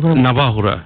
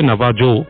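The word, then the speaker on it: Navajo: যায় একটা সময় ও এটা কারা বিলিভ করে নাবাহুরা নাবাহু ইন্ডিয়ানসরা যদি লেখায় আসে নাবাজো বাট একচুয়ালি এটা প্রোনাউন্স হচ্ছে নাবাহো আচ্ছা এই নাবাহু সম্পর্কে একটু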